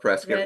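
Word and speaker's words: Prescott: Prescuit, Arizona. Love Prescuit. rhymes with biscuit.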